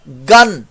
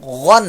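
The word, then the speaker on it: غً: زبر غن بعض لوگ اس کو غین کو گاف کی آواز سے میچ کر دیتے ہیں گین گین یا غین کی پروننسیشن درست کریں گے غین لیکن جب دو زبر پڑھ کر اس کا تلفظ بنتا ہے غین دو زبر گن، گن کون سی گن بھائی؟ ایئر گن، تو گن نہیں ہے یہ، غن ہے حلق کے اوپر والے حصے سے، ٹھیک ہے، جیسے وہ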